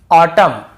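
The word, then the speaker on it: autumn: जैसे ऑटम column dam और हाईम तो यहां पे हमें ऐसे ऑटम कॉलम डैमन ऐसे हाईमन ऐसे नहीं पढ़ना है।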